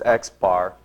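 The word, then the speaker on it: x̄: bar above it and that's exactly how you say it you you say that as xar Maddy come on now you got to pay attention that we which we call xbar is simply the what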